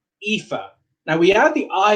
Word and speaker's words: Aoife: So this one is Aoife. Remember the AO has the E sound? Aoife.